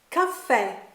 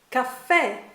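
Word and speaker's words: caffè: Blair say in glazing if there is an accent on the final letter of a word then you stress that sound that letter let's look at some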